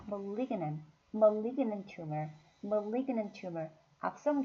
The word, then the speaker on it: malignant: 리의 강세가 있으니까 malignant, malignant tumor, malignant tumor, 악성 종양, 양성 종양, benign tumor, benign tumor, 악성 종양은 malignant tumor, 네, malignant tumor.